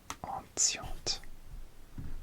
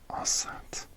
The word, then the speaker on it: enceinte: Alors, oui, teachers, l'enseignante et anciente. Oui, Google Translate la prononciation. Enceinte. Enceinte, enseignante. D'accord.